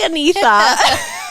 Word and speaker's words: Anita: sweet you're like so my name's like Ana we're like what cuz it's spelled Anita yes and that is sort